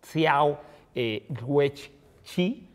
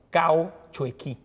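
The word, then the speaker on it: Cao Xueqin: se le llamaba Xiao, al autor le llamamos Xiao Guech-chi y ahora le llamamos Cao Chueqin, ¿no? Como ¿sí? Chuequín, Cao Chuequín.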